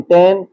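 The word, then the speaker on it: tan: इसी तरह सी ओ एस cos theta, T ए एन टेन theta. तो क्योंकि आप फर्स्ट टाइम पढ़ रहे हैं तो प्रोनाउंसिएशन इसकी सीख लें, साइन थीटा, कॉस थीटा और टेन थीटा।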